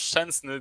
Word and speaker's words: Szczęsny: Alors, petit cours pour Szczesny, ça se prononce Szczęsny d'ailleurs.